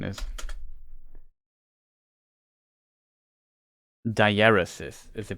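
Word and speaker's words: diaeresis: it show it's pronounced in English the correct pronunciation is diarysis is a pronunciation and all that's also like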